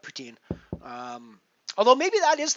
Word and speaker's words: poutine: have is PU is Putin which is pretty close to the French pronunciation uh in Quebec and then we have poutine here in here in